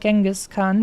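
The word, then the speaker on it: Genghis Khan: the Mongols uh like the proper pronunciation would be something like jingus but in the English like language space they ended up uh pronouncing it more like genas Khan for some reason I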